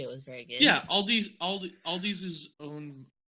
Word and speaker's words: Aldi: Yeah, Aldi's is owned. You say Aldi's, but it's Aldi. Is owned by Trader Joe's. It is Aldi.